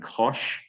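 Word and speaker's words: cosh: function which defines an x coordinate and you pronounce these by the way as cinch and Kos typically if you're if you're speaking it um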